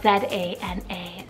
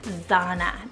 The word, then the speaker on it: Zana: You could also probably do Zana as well, but depends on how you like and depends on how you like the sound of it. Zana, Zana are both beautiful, and it's a